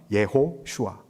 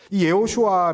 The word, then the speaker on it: 예호슈아: 그러면 예수님의 원래 이름이 어떤 이름입니까 정확하게 하면 예호슈아 예호슈아이 예호슈아 단어 우리가 이제 여호수아 배웠는데이 단어의 배경도 우리가